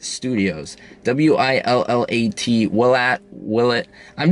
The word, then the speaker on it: Willat: history american history for that matter it's called will it studios w-i-l-l-a-t will at will it i'm just going to